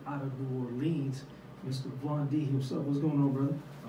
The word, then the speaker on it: Vondie: pronounce Vondie? Vondie, yeah.